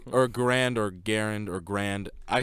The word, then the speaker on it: Garand: guy who's made its last name is garand but us american hicks say grand i say i say